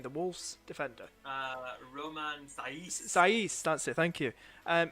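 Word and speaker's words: Saïss: have seisin you know says is that you pronounce his name the wolf's defender uh romans saiz that's it thank you um he's a good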